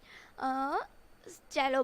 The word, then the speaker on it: cello: Cello means हमें ये दिखता भले ही सेलो जैसा है, सेलो लिखा हुआ ऐसा, पर हमें इसका प्रोनाउंसिएशन चेलो करना है.